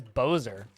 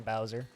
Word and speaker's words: Bowser: society i don't even it's pronounced bowser and not bowser uh who says bozer it's always been bowser what hold on a